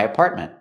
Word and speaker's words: apartment: Again, with apartment, you have the T in the middle, is a stop T, apartment. And at the end, you can pronounce the T and say meant, apartment, or make it a stop T too and say apartment. Both are correct.